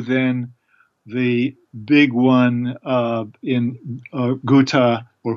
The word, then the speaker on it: Ghouta: the big one in Ghouta, or Ghouta as it's pronounced in Syria, in August 2013.